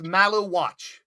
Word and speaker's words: Maluach: can't pronounce his name. It's Malawach.